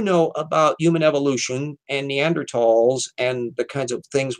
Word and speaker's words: Neanderthal: are pronounced very differently so yeah it's neanderthal even though it's spelled with the damn th because those damn Germans